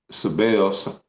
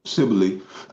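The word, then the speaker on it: Cybele: there you go so that's how they pronounce it cile you know I was saying sbel but cile so it says volumes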